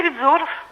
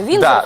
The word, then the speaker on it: Виндзор: Династия Видзоров. Как? Династия Видзоров. Видзоры. Ну, да, ударение просто. Виндзоров Да, обычно Виндзор, говорят.